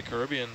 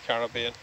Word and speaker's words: Caribbean: I like the Caribbean. Okay, so you say Caribbean, and you're English, so is that the proper way to say it? Well, not Caribbean? There's no ribs in it.